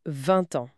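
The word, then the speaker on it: vingt ans: Pour 20 ans, le T final de 20 est muet normalement, mais la liaison fait entendre 20 ans.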